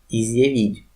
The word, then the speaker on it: изъявить: Изъявить, изъявить, зя, изъявить, зя, изъявить.